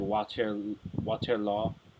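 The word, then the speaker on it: Waterloo: I he I hear in Belgian like the like the pronunciation is closer to like water law so it sounds more like that instead of waterl so that's that like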